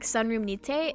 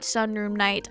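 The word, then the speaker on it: Sunroom nite: It is not sunroom night. I don't know why I thought it was. It's sunroom nit in the sun room.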